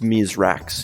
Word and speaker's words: Mithrax: they were forced to evacuate their entire planet mythrax which is pronounced me's racks in The Elixir tongue was born into the